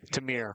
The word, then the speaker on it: Tamir: It's the two of Tamir White. At least that's if I'm saying it right. I remember during the football season I think I messed it up a few times. Tamir. Tamir. Tamir. Tamirs are correct.